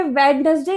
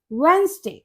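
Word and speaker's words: Wednesday: है हमारा वेडनेसडे वेडनेसडे ये वेडनेसडे नहीं होता इसमें डी साइलेंट होता है यह होता है वेडनेसडे वेडनेसडे वेडनेसडे अब नेक्स्ट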